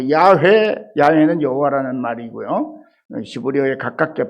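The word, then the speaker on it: 야훼: 뭐 아도나이, 엘샤다이, 뭐 야회. 야외는 여호와라는 말이고요. 히브리어에 가깝게 발음하면 야외라는 거예요.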